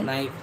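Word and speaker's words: knife: पहला लेटर के के नाइफ नो नो नो माने जानना हम नी नी माने घुटना हम के साइलेंट ठीक है ओके नेक्स्ट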